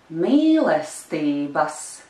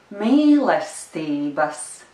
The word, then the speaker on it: Mīlestības: Mīlestības. Mīlestības. Do you also hear that there is a small stress on the third syllable?